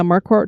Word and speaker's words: Marquardt: bridget how do you say her last name marquardt yeah marquart who does the ghost magnet podcast and i